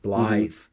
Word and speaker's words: Blyth: I believe that's pronounced proper, Blyth, which is on the North Sea, not that far from Newcastle, in northern England.